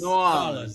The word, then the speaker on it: New Orleans: New Orleans or N'awlins? N'awlins, that's right. That's right. This is such a fascinating show. Let's just pronounce all the cities.